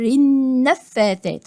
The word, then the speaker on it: النفاثات: طيب النفاثات همزة وصل تسقط وصلا، هنا اللام معلهاش رأس الحاء، دي لام شمسية، واللام الشمسية بتبقى مدغمة. من شر النفاثات يعني ما بنطقش اللام